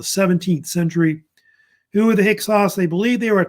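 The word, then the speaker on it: Hyksos: the real correct one they F either pronounce hix or hios one of the two is usually popular uh after the hexos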